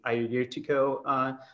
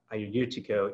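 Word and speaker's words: Agiorgitiko: So, I see here on the Q&A that Rihanna suggests just dropping the AG from the Ayurtiko part of it. So I'll have to kind of keep that in mind when I'm trying to pronounce this. Just forget the AG is even there.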